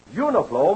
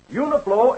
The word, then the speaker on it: Uniflow: Now, that's why I want you to tell your dad about Uniflow motor oil. Uniflow is sold in sealed cans at all service stations. It's spelled U N I L O.